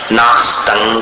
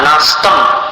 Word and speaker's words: नास्तं: नास्तं कदाचिदुपयासि नराहुगम्यः। नास्तं का जो अनुस्वार है उस पर ध्यान दो। नास्तं कदाचिदुपयासि नराहुगम्यः। नास्तम, म मत बोलो। तंक, आतंक, वैसा उच्चारण।